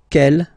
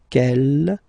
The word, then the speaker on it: quel: Okay, quel here, feminine singular, will become quel with the S, feminine plural. And the good news is that you will pronounce them the same way. Alright, so quel, quel, quel, and quel.